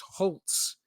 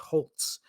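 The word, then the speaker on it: Holz: spelled HZ no T in there but it's pronounced Holtz so why wouldn't you just throw a t in there between the L and the Z but whatever so it's holes but it's h it's pronounced Holtz so in 2023 I was also like who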